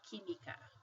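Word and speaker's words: química: qu qu we say kimika like this that Q sounds like a k so he me okay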